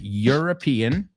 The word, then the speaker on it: European: And this one, dos que son difíciles, European Union. You're right? European.